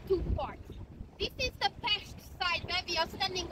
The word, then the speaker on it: Pest: We say Pest, not Pest, because Pest is a kind of an epidemic, you know, so please be careful here with this.